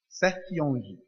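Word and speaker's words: Sertillanges: Anthony Dominic Sertiange, né? Sertiange, né? Aprendi o nome correto, nunca mais eu falo errado. É bom falar com quem... Ele é francês? É, né? Qual é a pronúncia, Norma? Sertiange.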